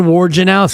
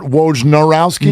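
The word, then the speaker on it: Wojnarowski: pronounced warge is it it is Adrian wowski it's not W narowski no it's not are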